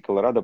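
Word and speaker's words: Colorado: А, потому что там, на английский Колорадо произносится о на конце.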